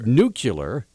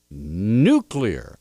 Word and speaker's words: nuclear: United States okay say the word nuclear and mispronounce it by saying nuclear nucular I go nuclear or do you go nuclear how difficult is it to pronounce a simple word like nuclear I mean come on people well that then